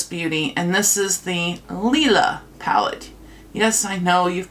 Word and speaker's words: Lila: on to this beauty and this is the Leela palette yes I know you've probably heard a lot of people pronounce it Lila but it is llenita de which means purple